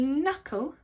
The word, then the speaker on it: knuckle: right it would be knuckle playing football so I grazed my knuckle with the silent K before the M the third one they